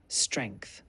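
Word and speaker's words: strength: बढ़िया आपने अच्छा किया अब ध्यान दें कि स्ट्रेंस में टी एच और एस का उच्चारण सही होना चाहिए इस शब्द को ऐसे उच्चारित करें स्ट्रेंथ चलिए एक बार और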